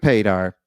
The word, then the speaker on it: Padar: it right do you correct people if they pronounce it wrong I don't but it's easy because it's pedar like radar there you go yeah I know